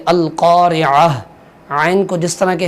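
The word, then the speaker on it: القارعة: ہم یاد کریں گے۔ القاریعہ، قاف کو پر کر کے پڑھیں گے القاریعہ۔ عین کو جس طرح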